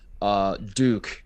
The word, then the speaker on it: Duke: Duke is how it's pronounced.